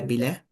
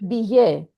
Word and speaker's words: billet: Double L is pronounced Yeah. usually I, like fille, daughter, la fille, Fear. le billet. Like in when we pronounce family, it's famille. Like the spelling is F-I-M. Exactly. Famille, fille, billet.